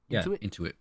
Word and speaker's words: Intuit: The Intuit Dome. Is that how you say it, Danny? Intuit. Yep.